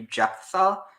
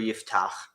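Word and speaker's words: יפתח: So that so he mispronounced it, but in English it would be Jephthah, but in Hebrew Yiftach.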